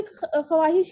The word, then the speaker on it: ख्वाहिश: सर लिखते इसको ऐसे ही है, सही लिखा है। हम उर्दू में भी ख्वाहिश ही लिखते हैं, लेकिन पढ़ते उसको प्रोनाउंसिएशन ख्वाहिश होगा सर।